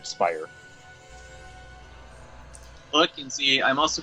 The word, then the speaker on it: Speier: My last name pronunciation, not instead of Spirit, Speier.